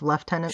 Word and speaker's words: lieutenant: Did you explain to them that lieutenant is pronounced left tenant some places?